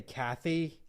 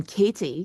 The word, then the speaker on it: Katy: know why because the the way it's spelled I just want to say Kathy I don't know why